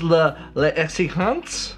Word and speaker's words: L'Exigence: This is l'exigence. That's how we pronounce it in French.